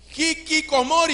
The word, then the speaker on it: hikikomori: un japonés con Barrera voy a tratar de pronunciarlo y es hiik comori diga conmigo hikikomori hiori ya está hablando japonés usted mire Y